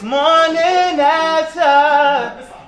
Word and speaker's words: Morninafta: So start off with saying, it's Morninafta. You can follow me everywhere. I'm on Apple Music, iTunes, Twitter. It's spelled differently though.